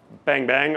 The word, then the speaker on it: bang-bang: It's pronounced bang-bang, obviously, as I've just said like five times now.